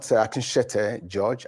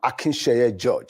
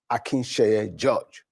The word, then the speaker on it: Akinsheye: I'm not Akinshete George, I'm Akinsheye George. So my name is Akinsheye George.